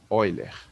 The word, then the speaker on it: Euler: Se escreve assim, né? Euler. Mas se lê Euler, tá?